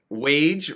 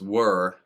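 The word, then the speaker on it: Waage: back to me and he said that it's were like w-u-r if if you had to spell it phonetically so that kind of surprised me so if you've been pronouncing it wage all of this time you're probably wrong i'm going to go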